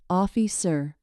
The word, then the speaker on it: officer: In officer, the stress is on the first syllable, officer.